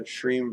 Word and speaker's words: Shreem: So if you're saying the mantra Shreem Brzee, Shreem Brzee, Shreem aware of the sh, the r, the e, and the mm.